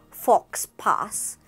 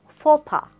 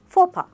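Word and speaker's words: faux pas: Here in this word, the W is silent, so it's not sword, it's sword, sword. This is not fox pass, it's fopa, fopa.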